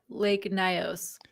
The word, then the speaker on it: Lake Nyos: Lake Nyos. Lake Nyos.